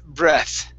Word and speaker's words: breath: Instead of breathe, it's breath. Breath. Okay. Make sure that your tongue is between your teeth. Okay. For the TH.